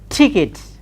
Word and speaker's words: ticket: ke T how do we say it is tickets tickets not the final sound final sounds the